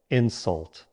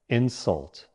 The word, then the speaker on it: insult: Insult. Now you say it. Good. Try saying this sentence. Shouting at him was a terrible insult. Now the verb. Stress on the second syllable, insult.